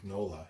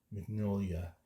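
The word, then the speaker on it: Mignola: I used to say mola you know but I guess the proper pronunciation is Magnolia like you're supposed to hang out in your nose more when you say his last name sit you know to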